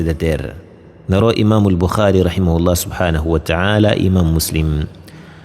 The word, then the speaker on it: Muslim: Imam Buha, Imam Muslim e a pronúncia é imam muslim.